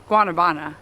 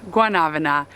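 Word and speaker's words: guanábana: and she told us it's not guanabana it's guanavana so we like to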